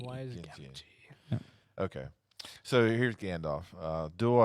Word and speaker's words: Samwise Gamgee: Samwise Gamgee. Samwise Gamgee.